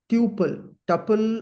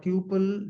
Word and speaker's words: tuple: We call them as tuple, or tuple. Generally, people pronounce this.